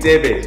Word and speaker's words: Thebe: I mean Thebe, that's how you say his name.